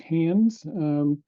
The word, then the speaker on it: HNDS: That is the HNDS acronym, pronounced HANDS.